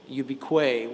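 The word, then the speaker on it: ubique: And also over on the left like a watermark on the canvas is a Latin word ubiquay which is how it's pronounced in Latin ubiquitous.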